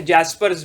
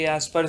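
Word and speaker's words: Jaspers: सब ने, ठीक है, जैस्पर्स वैसे तो लिखते हैं लेकिन बहुत जगह प्रोनाउंसिएशन सही उनके यास्पर्स है, क्या क्या कहा है, क्या क्या कहा है भैया।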